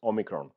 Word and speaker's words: omicron: umicron or something like it but the correct pronunciation is omicron all right let's forget about the languages now